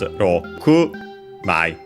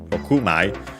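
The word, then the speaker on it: 六枚: Notice that in this case the accent is Rokumai, so on the ku, on the last syllable of the number 6 in Japanese, so Rokumai.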